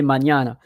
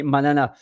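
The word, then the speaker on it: mañana: with the till like in Spanish we say manñana so there is no reason in French to say manana uh it's good to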